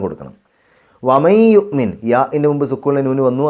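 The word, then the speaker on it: يؤمن: യുഅ്മിൻ ബില്ലാഹി സാവകാശമാണ് ആ ഒരു ബായിലേക്ക് അങ്ങ് പോകേണ്ടത്. യുഅ്മിൻ എന്ന് പറയുമ്പോൾ പെട്ടെന്ന് ചുണ്ട് കൂട്ടാതെ ചെറിയൊരു വിടവ് കൊടുക്കുക.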